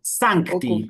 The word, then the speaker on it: Sancti: Profesor, disculpe, la C de San es como la K o como Sancti. tan, Sancti. Sí, es como si fuera una K que la introduces ahí.